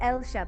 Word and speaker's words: Ailsha: I said Ailsha. Is it No, Ailsha? it's perfect. Ailsha. I say Ailsha, but it's spelled as Ailsha.